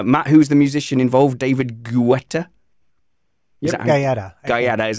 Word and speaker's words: David Guetta: youtube earlier uh matt who's the musician involved david guetta yeah yeah that is how you pronounce it it is it is like i